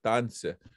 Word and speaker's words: danse: And people are going to ask on that first A, there's a really funny mark on top, okay? There's a funny mark on this. And that's telling us it's a long A sound. So, danse, right? Danse, danse.